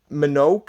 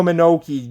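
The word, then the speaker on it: Mononoke: it yet princess minogue haven't seen monoka i believe that's how you say it no menoki there you go that's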